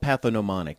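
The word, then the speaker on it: pathognomonic: you sound really smart it's called pathom monic the g is silent what that means is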